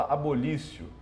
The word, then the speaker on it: abolitio: Se escreve abolitio, se fala abolício.